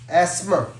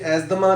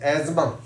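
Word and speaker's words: asthma: Like this word is एस्मा, ये एजदमा नहीं है। This word is एस्मा, टी एच is silent here. और American English में this is एजमा, this is एजमा।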